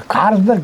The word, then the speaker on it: Carlsberg: ma takiego piwa na Carlsberg nie a c na C No bo to można no pisze się c przez c nie A czyta się k tak zakuty łeb [